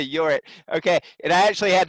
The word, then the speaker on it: Jorrit: gonna meet your so your it is am i pronouncing your name correctly um yes it's your it's like that curious hey you're it okay and I actually